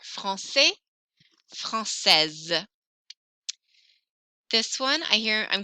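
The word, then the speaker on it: française: francais no s francais francaise i hear the s very strongly there francais francaise this one i hear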